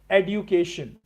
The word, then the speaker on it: education: Okay, so few people believe that du should be pronounced as du, not Jew.